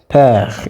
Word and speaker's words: père: When you pronounce père, you can't feel that last E.